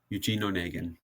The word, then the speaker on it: Eugene Onegin: Eugene. Eugene Onegin. It's not how I would have pronounced it at all, so thanks for the assist.